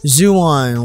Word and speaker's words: Xuan: am i right uh-huh it's pronounced zoo on like a iguana ooh zoo yeah right